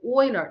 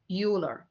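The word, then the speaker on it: Euler: thoughts okay Oiler the the pronunciation is Oiler not uler is a Germany Oiler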